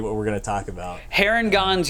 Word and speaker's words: Harengon: we're gonna talk about heron gonz you said is the right way to say it yeah yeah yeah and